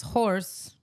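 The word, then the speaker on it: haux: The slang word is pronounced as horse. No, there's no R. H A U X is pronounced horse.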